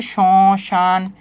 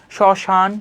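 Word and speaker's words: শ্মশান: যেমন দেখো শব্দের প্রথমে যখন মফলা থাকে তখন কি হয়? উচ্চারণে কিছুটা যোগ পড়ে এবং সামান্য নাসিক্য স্বর হয়। যেমন হচ্ছে সশান সরণ। এইযে দেখো একটু নাসিক্য স্বর হচ্ছে না। শশান স্মরণ নিজের উচ্চারণ করে দেখবা।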